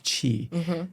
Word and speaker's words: qi: bit about what is qi. So qi is spelled usually QI or CHI, okay?